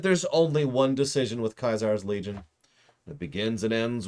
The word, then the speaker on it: Caesar: jot that down towards death to caesar or kaiser excuse me kaiser i know i know that's how it's supposed to be pronounced i don't care because